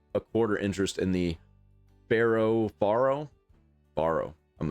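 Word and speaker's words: faro: It is pronounced Pharaoh.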